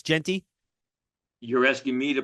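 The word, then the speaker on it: Jeanty: So it is Genty, not Giante. It's Genty. You're asking me to pronounce a name, the correct pronounce.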